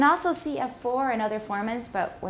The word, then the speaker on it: formant: Okay, formant, remember, it's a schwa in the second syllable.